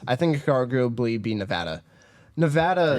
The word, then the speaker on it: Nevada: think Chicago bully be Nevada Nevada it's actually Nevada no it's actually Nevada it's not I don't like it either it's it's Nevada it's not Nevada I don't like it